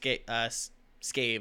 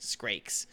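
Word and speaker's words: Scrake: It's not pronounced scave. It's pronounced skrakes.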